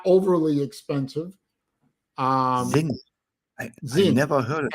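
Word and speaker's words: Sinn: not overly expensive um Zing never heard s SI NN zing you gotta check them out they make a fantastic means zens z s i the S is pronounced with Z Zin and translated to English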